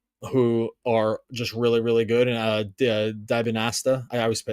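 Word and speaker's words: Dybantsa: And Dibanasta, I always say his name wrong. AJ Dibanasta.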